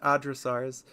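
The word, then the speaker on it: hadrosaurs: By the way, they're pronounced Adrosaurs. Be cursed with this information too.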